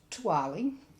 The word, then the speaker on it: TOOALI: So I came up with a brand name them that was T O A L I which is pronounced Tali and is an acronym for the only one around like it.